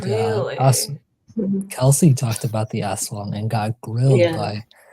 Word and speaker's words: aswang: That's for the aswang.